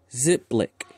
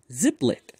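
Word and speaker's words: Xiplik: shall name him sir ziplik zip spelled with an x so x i ep x i p lick ziplic there we go we're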